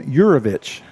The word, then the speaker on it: Uravich: 28 and then it's gavin uravich is how you pronounce his name yurovich yurovich he is playing second base